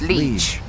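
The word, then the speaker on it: Liège: How do you pronounce it? There's a lot of, like... Here you go. Liege. Is it? It's Liege.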